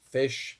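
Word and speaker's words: Phish: I'm not a fan of Fish. P H I SH.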